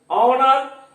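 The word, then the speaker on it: honour: ऑनर H silent है।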